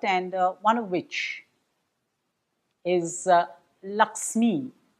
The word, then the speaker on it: Lakshmi: one of which is Laxmii. The pronunciation also about the film is wrong, spelling error maybe. The right to have a proper noun spelled the way they want, and so we have Lakshmi.